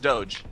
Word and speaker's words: doge: home star runner video in 2005 and it's pronounced doge in the video it's actually just doge oh i didn't know it had like an